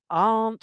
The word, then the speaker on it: aren't: And we've got words like aren't, which is one syllable, but isn't is actually two.